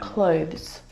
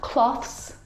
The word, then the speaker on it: clothes: your clothes clothes but clothes clothes not cloths not clothes and not clothes either the difficult thing about the pronunciation of this word is the two consonant sounds together both of those sounds are voiced consonant sounds so the sound is made here in your vocal cords now the thing to